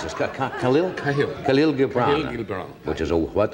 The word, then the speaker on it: Khalil Gibran: is how do you pronounce this? Khalil? Khalil. Khalil Gibran.